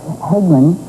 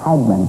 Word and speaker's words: Hagman: Cuz Hegman in Texas, we used to pronounce it Hegman. Now it's Hagman.